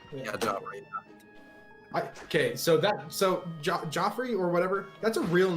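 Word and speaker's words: Geoffrey: Okay, so Joffrey or whatever, that's a real name, like the way it's written and stuff, and like, you know, the real world. Yeah, It's pronounced Jeffrey.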